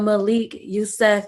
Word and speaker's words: Malik Yusef: and today i have a great guest mr malik yusuf am i saying it right yes ma'am okay